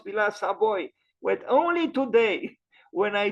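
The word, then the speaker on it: Villa Savoye: The correct pronunciation is Villa Savoy with a, so it is Savoy, not Savoie, Savoy. There is a touch of I at the end.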